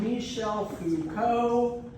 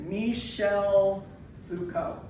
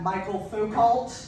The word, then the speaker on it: Michel Foucault: So everyone, today we are talking about Michel Foucault. That is how you pronounce it, Michel Foucault. Not Michael Foucault, which is what I get a lot, nor